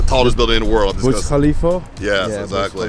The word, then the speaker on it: Burj Khalifa: Burj Khalifa? Yes, Yeah, exactly. Burj Khalifa.